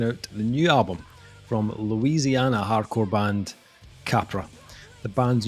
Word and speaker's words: Louisiana: the new album from Louisiana hardcore band Capra. The band's new album, Errors, will be released on October 6th via Metal Blade Records. Correction there is Louisiana. Not Louisiana.